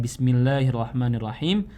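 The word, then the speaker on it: بسم الله الرحمن الرحيم: Dan juga dari segi tajwidnya ada mad tabi'i yang terlalu panjang, karena mad tabi'i itu cukup 2 harokat saja. Misalkan kayak Bismillahirrahmanirrahim. Bismillahirrahmanirrahim. Jadi jangan sampai Bismillahirrahmanirrahim. Nah itu terlalu panjang. Nah itu bisa jadi fatal juga. Maka tajwidnya itu cukup daripada 2 harokat.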